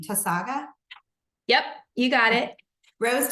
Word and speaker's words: Tausaga: Tausaga?